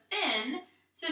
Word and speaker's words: fins: And then we uncover the S, and we already know that this part says fin, so now we just say the S sound at the end. Fins, fins, fins. I'm going to say it until it sounds right. Fins, fins, fins. I know that this S is making the Z sound.